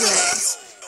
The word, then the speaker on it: Rolls: It's not Ross, it's Rolls. That's how you pronounce it.